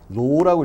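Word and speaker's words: ρ: 이제 이거 쓸 때 그냥 이렇게 쓰는데 로라고 읽죠. 로.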